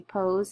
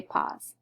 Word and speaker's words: pose: Again, we need the silent E because it makes the long O say its name, so it doesn't say pause.